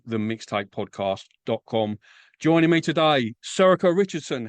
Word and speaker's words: Sorcha: Joining me today, Sako Richardson.